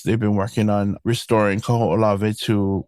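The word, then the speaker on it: Kahoʻolawe: The longest one is probably the hardest one to pronounce is Kaho'olave. Kaho'olave. Kaho'olave. Yeah, and I hear so many weird pronunciations of this. Kahulave, yeah. Ku'ulavi, So Kaho'olave.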